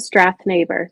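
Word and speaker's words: Strathnaver: I'm gonna have you say the title because I'll pronounce it wrong. So it's called The Twins of Strath Neighbor.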